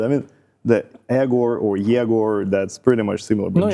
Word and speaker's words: Yegor: No, Yegor. That's the, let's say, the original version, like the how it's supposed to be called. Egor, it is more already changed for the convenience of people who cannot pronounce the ye.